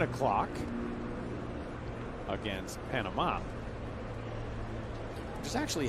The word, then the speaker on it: Panama: Canada will give that a crack tonight, coming up at 7 o'clock against Panama.